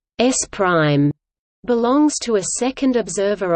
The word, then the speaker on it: S′: Frame S belongs to a first observer O, and frame S pronounced S prime belongs to a second observer O.